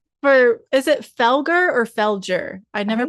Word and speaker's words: Felger: deep deep love for is it Felgar or Felgger? I never pronounced it right. Felger. It's Felgger and right? Felgger and Kums. Okay. I've always said Felure, but I thought I heard someone say Felgger